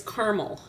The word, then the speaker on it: Carmel: it is not carel it is caramel really it is and I said well you should come on and tell Steve yourself tonight but she said I can't because when I type it out it's spelled the same Carmel and carel it's like Madrid Iowa and Madrid Spain wow so that is